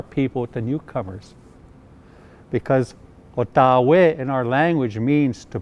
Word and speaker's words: Ottawa: The proper pronunciation is Ottawa, Ottawa.